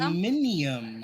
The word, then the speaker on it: aluminium: Isn't it pronounced aluminum? Aluminium, huh? Yes, aluminium.